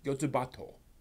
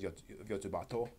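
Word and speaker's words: Yotsuba&!: Actually, I'm going to recommend a slice of life manga, Yotsubato. Generally called Yotsuba over here, but the actual pronunciation is Yotsubato.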